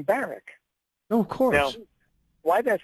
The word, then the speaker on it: Barack: and by the way he he pronounced his name barck of course now why